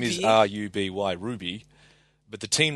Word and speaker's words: RWBY: the show yeah but you're legally required to pronounce it Ruby Ruby yeah everyone says